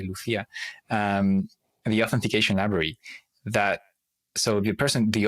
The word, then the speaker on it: Lucia: For me, it's a Spanish name, so I say Lucia, the authentication library.